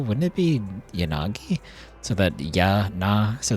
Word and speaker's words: Yanagi: Isn't the way to do it in Japanese is the A should be pronounced the same both times and they should both have like the same level of time spent on each syllable. Wouldn't it be yanagi so that ya na